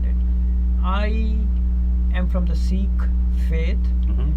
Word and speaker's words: Sikh: know something about it I am from the Sikh faith seek means a student the student literal translation means a student so that's it's spelled s i KH s shaking at a